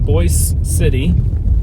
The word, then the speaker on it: Boise City: county so I'm leaving Boyce City looks like Boise city but it's pronounced Boyce city which is the county